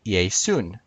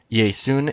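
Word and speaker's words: Ἰησοῦν: Jesus I would say yay soon yay soos is Jesus's name used as the subject in Greek obviously yay soon is Jesus's name used as an object notice the difference yay soos ends in an S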